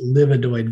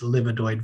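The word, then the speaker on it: livedoid: not vasculitis even though sometimes it's mispronounced livonoid vasculitis the actual name of this disease is livadoid vasculopathy and it's a clotting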